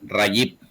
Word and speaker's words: Rajiv: Ok, se pronuncia Rayip. Rajiv, ok.